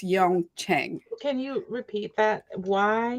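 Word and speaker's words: Yeong Cheng: to pronounce their name so I'm going to spell it it's uh y-e-o-n-g and then the next word is c-h-e-n-g so I think it's Yong Chang can you repeat that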